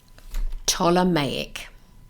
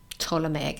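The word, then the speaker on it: Ptolemaic: it's going to try me crazy hold on toic there we go toic and it's spelled p t o l e m a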